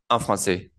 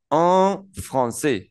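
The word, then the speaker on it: français: FR Fran Fran bien la palabra FR la a y la i juntas de ahora en adelante vamos a entender que va a sonar e como la e del español e normal e y la an suena como nasal Oh Fran Fran la s no suena la mayoría de consonantes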